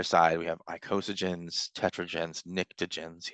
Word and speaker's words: pnictogens: Alkali metals, alkaline earth metals on the 1A, 2A, and then on the other side, we have icosagens, tetragens, pnictogens, yes, the P is silent, chalcogens, halogens, and noble gases.